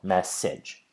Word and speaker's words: message: And here we have the stress on the first noise, me, and then in this case, it doesn't change because the second noise is naturally a kit vowel, message.